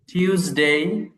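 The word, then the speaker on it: Tuesday: Monday Monday টিউসডে টুইস না এটা টিউস হবে অনেকে আমরা টুইস বলি এটা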